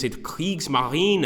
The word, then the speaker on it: Kriegsmarine: okay so what about this with do is CS Marine I think it's better I like when people